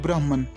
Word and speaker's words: Brahman: Hindus believe in one great power or supreme god called Brahman that exists in everything. In Sanskrit, Brahman is pronounced as Brahm.